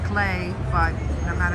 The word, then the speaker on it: Klee: opens at 11: and I know his name is pronounced clay but no matter how many times I say it Paul CLE Rings right in my